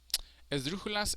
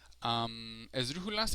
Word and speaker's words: esdrújula: Esdrújulas and sobre esdrújulas. So this one is pretty straightforward. Esdrújulas, the strongest sounding syllable for an esdrújula is the third to last, or the antepenúltima in Spanish.